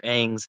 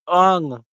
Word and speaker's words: Aang: It's got Avatar's or Aang's head on it. Or don't hate me, but the movie he mispronounced it. It's Ung. Ung's head. It's Aang. That's the correct way. You say Aang.